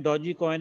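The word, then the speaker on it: Dogecoin: इफ आई am correct, ऐसे words के अगर आगे जी के आगे कोई वावल आए ना, ठीक है, ए आई ओ यू, तो यार दे आर प्रोनाउंस सॉफर, तो उसको डॉजी कॉइन भी कह सकते हैं और डॉज कॉइन भी कह सकते हैं।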